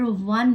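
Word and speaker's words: one: उटी बहुत एक्सेप्शन है कभी कभार व साउंड भी निकलता है जैसे कि लेटर वन में वन में ओ एन ऑन है पर जैसे ई लग गया यह व साउंड दिया वन पर यह आपको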